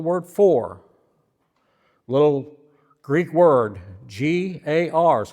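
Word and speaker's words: γάρ: G A R is how it's spelled or pronounced in Greek.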